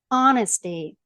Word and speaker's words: honesty: intimacy це близькість інтимність honesty чесність щирість будь ласка Зверніть увагу на вимову цього слова H не читаєть відданість прихильність you ти